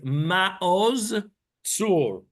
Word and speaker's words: Maoz Tzur: Maoz Tzur. And what happens to the Zion? It disappears in the way we speak. The correct pronunciation, of course, is Maoz Tzur.